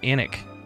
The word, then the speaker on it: Alnwick: I live its original name is Alnwick Castle pronounced anik anik Castle that's cool need a class on